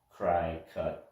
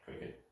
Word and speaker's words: Cricut: the cricut site and that's spelled c-r-i-c-u-t cry cut but cricket that's the name of